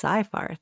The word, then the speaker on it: Seyfarth: And I pronounced that wrong. It's Seyfarth, not You know, half Seyfarth. of the firm says one, half says the Okay, other.